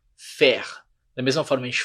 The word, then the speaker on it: faire: Faire, a gente não fala fire, o som de AI é, faire.